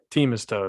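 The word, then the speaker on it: Themistode: he's like everybody does he's like it's pronounced team is toad i was like all right hans team is toad uh the head writer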